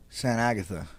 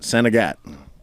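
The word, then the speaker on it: Sainte-Agathe: does that look now how would you pronounce that Andrew San Agatha yeah that's not how they pronounce it Sagat oh it is it's all French up there in Canada so everything yeah I've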